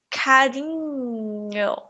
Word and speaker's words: carinho: não acontece no inglês o n h u n h é representado por este símbolo e tenho um som alaza lado é um som do E aí não existe no inglês mas é um pouco similar quando falamos Union onion certo por exemplo carinho galinha vizinha o minha ok muito